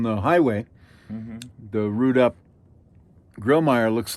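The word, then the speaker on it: Grillmair: How would you pronounce that word again or name? It's called Grillmeyer chimneys, Grillmeyer.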